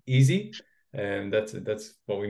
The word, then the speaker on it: EESSI: introduce him so so the way we pronounce it actually is it's easy and that's that's what